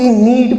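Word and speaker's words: knead: इसको भी नीड pronounce करते हैं, इसमें के साइलेंट रहता है।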